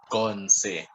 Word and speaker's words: Konse: So, like I said, I'm Bemba, so I'm actually mispronouncing it, and my fellow Bembas are going to be on my throat about it. The actual pronunciation should be Konse. Konse.